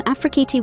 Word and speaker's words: Afrikiti: Hi, today I will be reporting on Afrikiti work from home jobs, business opportunities, affiliate programs, and more. Remember, Afrikiti is pronounced Afrikit.